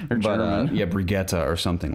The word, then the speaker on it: Brigitte: if I'm mispronouncing it is it brigetta from overwatch something like this I'm brigita yeah like that's it almost offends me it's like it's rigid it's like Swedish or something but yeah brigetta or something like that